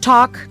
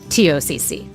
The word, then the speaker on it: TOCC: It might look like it's pronounced talk, and we want to talk about the talk, but it's actually pronounced TOCC.